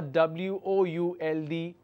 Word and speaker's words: would: It could be W-O-O-D, would, or W-O-U-L-D, would. There is no l pronunciation there.